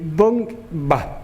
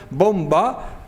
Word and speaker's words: bomba: n de manera que los andaluces tendríamos que decir bong va es un imposible fonético lo curioso es que el autor de ese libro dice catedr de fonética y es una barbaridad fonética puesto que nadie puede pronunciar bomba una n tiene que ser